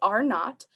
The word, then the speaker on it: R naught: this little zero, and it's pronounced R naught, and it basically means a number that represents how quickly a contagious disease is spreading.